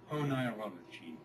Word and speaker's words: Oneirology: Apparently that's how it's pronounced. Listen. Oneirology.